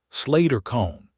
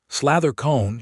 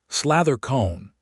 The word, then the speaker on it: Slather cone: Slater cone, he said. Slather cone, she corrected with the particular precision of someone who speaks a language that matters to them. The first syllable has a soft stop.